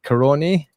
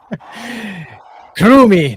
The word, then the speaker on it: Kurumi: Kurumi, not Kurumai. For any idiots that thought it was Kurumai, it's Kurumi, god darn it.